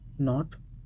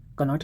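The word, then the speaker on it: knot: ठीक है, ये silent letters, knee, knife, नॉट, नो। Okay, here is के is silent letter, okay, in नो, एंड के silent in नॉट। कनॉट नहीं पढ़ा जाएगा, कुनो नहीं पढ़ा जाएगा, कनाइफ नहीं पढ़ा जाएगा, कैनी नहीं पढ़ा जाएगा।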